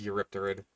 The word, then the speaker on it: Eurypterid: I don't exactly blame you for thinking, hey, maybe the P is silent on this one like it is on Pterosaur, but no, it is Eurypterid.